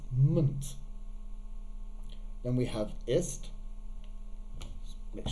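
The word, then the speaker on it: -ment: we have um here we would like to think that this is pronounced meant but it's actually pronounced munt then we have ist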